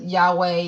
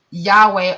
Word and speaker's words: Yahweh: And I will talk about different segments about how to get back to Yahweh and how you are truly supposed to live. But for the 4 Hebrew letters translator Yahweh are Y, a Yod, rhythms with Raz, which means, which we translate to Y.